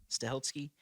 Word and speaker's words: Stahelski: released on October 24th 2014 directed by Chad stahelski is that how you pronounce that say it yeah stahelski and David leech leech yeah which if you